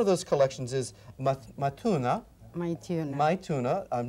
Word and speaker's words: Maithuna: Maituna.